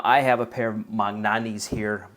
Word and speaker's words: Magnanni: have a pair of magnani's here maniani's as some people pronounce them that I've owned for